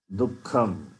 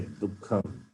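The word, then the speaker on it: दुःखम्: Dukkham. You can say Dukkham. The Visarga also takes the sound of Kakara.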